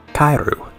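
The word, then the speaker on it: かえる: Because in Japanese, the word for frog is pronounced the same way as the word for return. Kairu.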